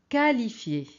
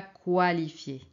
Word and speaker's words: qualifier: Alors regardez ici, c'est qualité, qualité, quitter, quitter, qualifier, qualifier, ce n'est pas qualifier.